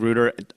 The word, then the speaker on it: Reuter: Reuter. Like Reuter. Reuter. Yep. Okay. I think I said Reuter. You Doug, know, that's Go- the correct pronunciation, but all the family pronounces it Reuter. But Reuter. if you lived on the coast, it would be Reuter.